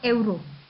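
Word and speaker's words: euro: जब आप स्पेनिश सीख जाएंगे तो स्पेनिश में यूरो को हम प्रोनाउंस करते हैं एवरो. ठीक है, तो ये जो वर्ड है इसको हम एवरो प्रोनाउंस करते हैं.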